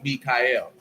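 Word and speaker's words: Miyka'el: thing who was like but one's pronounced different because that one is m-i-y-k-a apostrophe e-l it's mikhail but they both mean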